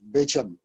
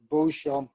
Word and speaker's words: Beauchamp: um dicing officer uh known as bitchum butler i i always thought that that was my father's pronunciation of his christian name uh for years i think like i may have been here mitchell there did he say lord john i was calling him beauchamp butler for years because in france